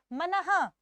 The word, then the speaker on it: मनः: लिखिए, मनः विसर्ग का उच्चारण ह के रूप में किया जाता है, नमः, मनः। तो मनः धन विकार मिलकर क्या बनेगा?